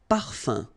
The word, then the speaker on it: parfum: this UM like that, phonetically it's exactly the same thing as if you would have UN. So it's nasal and it's un. So it really goes in your nose. You don't pronounce the M at all.